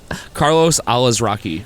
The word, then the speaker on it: Carlos Alazraqui: I believe it's Carlos Alazraqui. Alazraqui? That's how I'm pronouncing Instead it. of Alazarqui? Yeah, because that's not how it's spelled. Okay. So, say it again. Carlos Alazraqui.